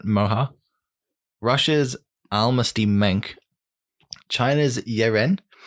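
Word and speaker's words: Moehau: I'm being a coward and not pronouncing them. Sam, please. So in New Zealand, they've got the Moiha. That's not right. Moha.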